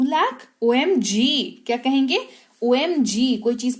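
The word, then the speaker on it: aww: ना ओ ए ए डब्ल्यू डब्लू इसका उच्चारण होता है ओ ये किसी अच्छी या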